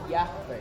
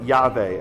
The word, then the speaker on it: Yahweh: Yahweh. Yahweh. Right? Americans say Yahweh, but it's Yahweh.